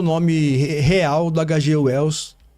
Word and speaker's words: H. G. Wells: O H tem um som mais forte, como um R bem fraco, e o G tem um som mais suave, como um J. Então seria H.G. Wells. Não seria Hyde Wells.